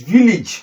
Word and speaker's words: village: This is village, not village. Village, not village. How do I mean? Look at the pronunciation. The letter I here, look at it, E. The letter A here, E. Then this is G sound. So village, not village. So you can see that. So meaning that this letter A here is actually E, not A.